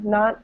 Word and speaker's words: not: and uh not yeah not not not but uh t is silent uh at the end right not i'm not you say you say it it's not silent it's just not very emphasized emphasized okay and um